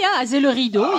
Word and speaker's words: Azay-le-Rideau: So from there, we drove, and again, 15, 20 minutes only, to Azay-le-Rideau, if mm-hmm. I'm pronouncing that right. Yeah, Azay-le-Rideau, yeah.